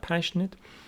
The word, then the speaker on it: passionate: But what does Longman say about passionate? Passionate. Passionate, adjective, stress on the first syllable, so meaning 3.